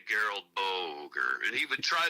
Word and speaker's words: Gerald: It's like Gerald, only it's pronounced Geralt. G- R A L D.